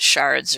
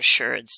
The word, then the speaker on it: sherd: We call it shards or sherds, depending on how you want to pronounce it, taking these and grinding